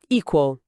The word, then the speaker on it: equal: E a tônica tá no i e naturalmente equal. O q aquele som bem característico de qua, né? E o no final, no inglês e americano, muitas vezes tem o que a gente chama de dark l.